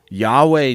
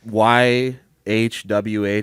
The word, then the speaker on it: YHWH: It's a band called Yahweh Nail Gun. Is that how you pronounce it? Yeah. Yeah. I was saying Y HW nail gun.